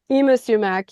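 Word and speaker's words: Yma Sumac: It's uh how do you pronounce name? Is it Ima Sumac? I sumac. Yeah.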